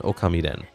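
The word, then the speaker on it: Ōkamiden: similar with alchemy in okami den which is by the way how it's pronounced despite what some commenters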